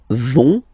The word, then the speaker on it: vont: So, ils vont, final T, not pronounced.